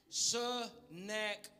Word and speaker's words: Sennacherib: Sennacherib, like a rib you eat.